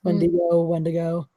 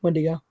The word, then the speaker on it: Wendigo: the cannibalism wounding them that pronounced multiple ways Wendigo is that w en D I G oh yeah when do you go I always heard in his wooden ego okay I've heard it as both Skye Smith's to support